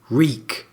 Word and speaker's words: Reek: to remember his name reek my name is reek it rhymes with weak and we see this